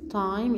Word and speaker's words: time: نيجي كلمة تانية ت ت I tie M time E لا تلفظ silent.